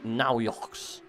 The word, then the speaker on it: Naujoks: The pronunciation in German for BMW Niels would be Naujoks.